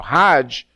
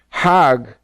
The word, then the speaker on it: Hajj: around the circles now Hajj is a pilgrim to Mecca hag is the Egyptian pronunciation hug in Hebrew means